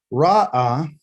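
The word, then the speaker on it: רָאָה: Ra'ah, which is recognized by a resh, an aleph, and a hey.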